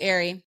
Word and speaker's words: Ari: It's pronounced Ari.